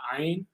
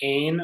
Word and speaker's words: Ayin: Sometimes I say like Ain or like as in like the Ain Soph or Ain Soph but sometimes I say Ayin as well.